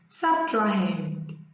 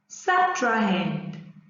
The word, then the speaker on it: subtrahend: meanwing and the second number is being pronounced subtrahend subtrained subtrahend good so now now you can pronounce the